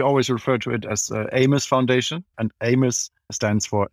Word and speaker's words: AMES: You are the founder of the AMES Foundation. Do I pronounce that correctly? Yes, well, you do. We always refer to it as AMES Foundation, and AMES stands for Africa's Most Endangered Species.